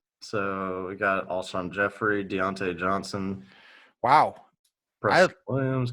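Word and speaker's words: Jeffery: don't like his name apparently because you'll never pronounce it correctly. I'll never. He's Jeffries for the rest of his life.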